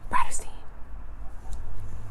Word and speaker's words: Bratterstein: My channel name is pronounced Bratterstein.